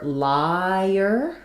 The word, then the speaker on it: liar: Then for liar, we have the I diphthong. And it goes to the and as it connects, you're going to have that little y vowel to vowel linking. Liar.